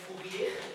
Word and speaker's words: Fourier: Se escreve Fourier, mas se lê Fourier.